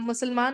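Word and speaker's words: مسلمة: गोलता लगा होता है, गोलता ता के दो नुक्ते होते हैं, और उसको साइलेंट कर देते हैं तो हा की आवाज आती है, मुस्लिमा, है ना?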